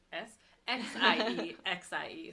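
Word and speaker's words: 谢谢: And then X makes a SH sound, so sh. So like thank you is xie xie, but it's spelled S-I-E, or X-I-E-X-I-E, so it's xie xie.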